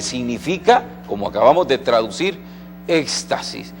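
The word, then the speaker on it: ἔκστασις: palabra que usted alcanza a ver acá se pronuncia éxtasis y el Éxtasis no supone una experiencia física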